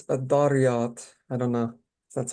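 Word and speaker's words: Adh-Dhariyat: It's Adariyat. I don't know if that's how you say it. It's what? Adariyat. Zariyat? Dariyat.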